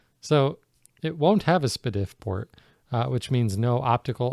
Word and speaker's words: S/PDIF: like spit if I I think that is the incorrect pronunciation for the way the letters are but that's what I call it no that's right it's s/pdif spit if that works i like spit if